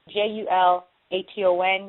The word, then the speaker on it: Julaton: I get it mispronounced so many times. But it's Ana Julaton.